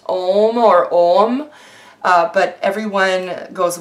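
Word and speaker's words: Ogham: this way as i pronounce this way it's pronounced ohm or ohm but everyone goes what if I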